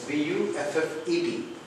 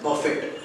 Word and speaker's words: buffet: It is wrongly pronounced as buffet, as its spelling is B-U-F-F-E-T. But the correct pronunciation is buffet.